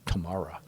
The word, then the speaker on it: Tamara: Well, my wife is Tamara, and it's always Tamara.